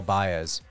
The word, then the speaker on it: Baez: If you struggle to spell Baez, it's spelled just like Bae, BAE, and then put a Z.